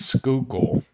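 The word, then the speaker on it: Schuylkill: crazy spelled word is skookul so I I pretend like I'm trying to say school and then I say skook skookul there you go yep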